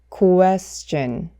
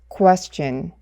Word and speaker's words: question: 정말 많은 분들은 이 단어를 question이라고 발음을 하시더라고요. 하지만 이 단어는 question이 아니라 question, question, question 이렇게 발음해 주셔야 합니다.